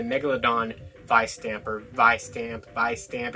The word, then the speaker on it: Vistamp: vice stamper vi stamp by stamp it's like vi stamp but they kind of pronounce it with like a b sound so it's like by stamp but uh that's our